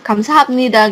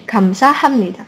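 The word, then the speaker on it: 감사합니다: Tapi kan ngomongnya kita enggak gamsa habnida gitu kan. Itu salah kan? Ya gamsa habnida ini sudah mengalami perubahan suara juga. Jadi jadi gamsa hamnida karena ini B ini ketemu sama N jadi gamsa hammida.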